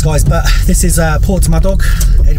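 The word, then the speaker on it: Porthmadog: but this is uh Port my dog because it's pronounced differently on the uh you have arrived they pronounce it por myad do in uh on the uh SAA which is interesting but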